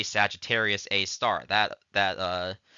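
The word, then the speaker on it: Sagittarius A*: hole which we call Sagittarius A star we actually say Sagittarius a star that that uh asterisk is pronounced as star in this case so Sagittarius A star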